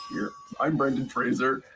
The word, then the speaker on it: Fraser: I'm Brendan Fraser that's Fraser sounds like Razer which has been mispronounced all my career but why we were